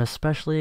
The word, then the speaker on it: especially: There's no X in the word. There's an S. You never pronounce it. Anyway, I have sort of lost my train of thought. Oh, right. I'm especially excited about more modern